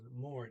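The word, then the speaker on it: morgen: pretty sure he says mourn and okay um be the morning it has an En on the end it skips through the G in completely Mourning um might you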